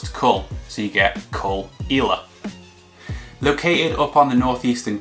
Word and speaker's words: Caol Ila: the K all isn't really that obvious either pronounce it cool so you get call ela located up on the northeastern coast by porous